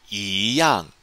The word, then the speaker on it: 一样: And don't forget, the character 一 here, normally pronounced first tone all by itself, switches to second tone because of the tone Sandy rule.It's followed by a fourth tone syllable. So we're going to pronounce it 一样 in this situation.